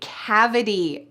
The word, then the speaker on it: cavity: There is a T at the end of this word, but in the US we pronounce it like a D sound.